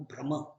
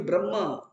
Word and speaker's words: ब्रह्म: कुछ लोग ना उच्चारण ऐसे ही करते, ब्रह्म को भ्रम, ब्रह्म भूयाय कल्पते, भ्रम भूयाय कल्पते, ब्रह्म नहीं ब्रह्म।